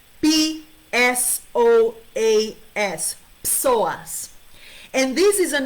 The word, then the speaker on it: psoas: called the psoas muscle it's called psoas it's pronounced psoas p s o a s psoas and this is an internal muscle that